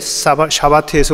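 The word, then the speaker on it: שבת: 영어로 하면 싸바스인데 이것은 히브리어로 하면 샤바트입니다 둘이 발음은 다르지만 같은 것을 가리키고 있는 거예요 영어의 사바스는 히브리어의 샤바트에서 온 겁니다 둘 다 가르치는 말은 우리가 알듯이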